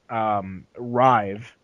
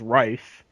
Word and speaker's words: Rive: Anyway, back on Indie Watch, we also have, and we're not pronouncing it right, Rive, which the Two Tribes Twitter said it was Rife, which is the new